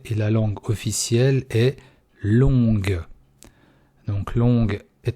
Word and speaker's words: long: Видите, G не произносится.